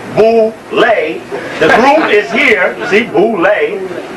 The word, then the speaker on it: Boule: to the Boule picnic known as vole pronounced Bole the group is here see ble ble b